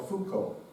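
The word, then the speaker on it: Foucault: um ja D Jean Fran Leo and Michelle Fuko we'll talk about that more later Three French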